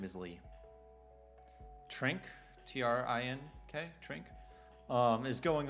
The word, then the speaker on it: Trink: course lee uh i believe it's how you pronounce this last name it's trink it's i know his first name is lee trink t-r-i-n-k trink um is going on like i